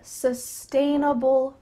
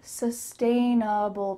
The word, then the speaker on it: sustainable: A very sustainable practice. A very sustainable practice. Let's break down that big word here. Sustainable. That final part sounds like Sustainable. There's two sounds here at the beginning.